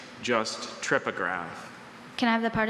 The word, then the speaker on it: trypograph: That's a tripograph. Can I have the language of origin? It's formed in English from ultimately Greek parts. Are there any alternate pronunciations? Just tripograph.